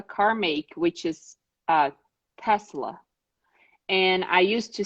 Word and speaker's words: Tesla: repeating themselves just because it's a it's a s sound not a z sound and it took you